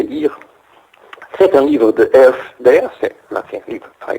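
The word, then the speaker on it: Herf: C'est un livre de Elf, d'ailleurs, c'est un livre très connu, appelé Reactionary Modernism. Je suis en train de vérifier si exactement. EURF, ça s'écrit H-E-R-F.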